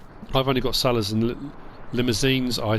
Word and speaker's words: Limousin: only got sellers and limousines i said someone's corrected me essentially limousine because you say as they are in french i'm not french so i'll just say it like that um water trough is